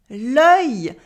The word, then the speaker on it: œil: It is l'œil. L'œil, the eye, of course. And here it is even spelt with le dans l'eau.